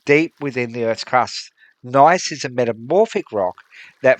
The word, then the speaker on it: gneiss: I don't know whether I'm saying that word properly. It's spelt Gneiss. I'm assuming that the G is silent.